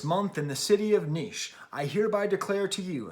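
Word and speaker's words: Niš: was a workers protest in the town of niche okay nis is how it's spelled and this guy gets up and he's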